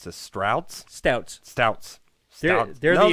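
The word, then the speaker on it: Stoudt's: because of its name it's how do you pronounce this trout stouts stouts yeah there's a like a D in it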